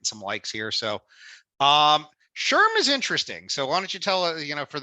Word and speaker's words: SHRM: likes here so um Sherm is interesting so why don't you tell us you know for those who don't know what sherim is and I'm reading SHRM as Sherm because that's how you say it uh you want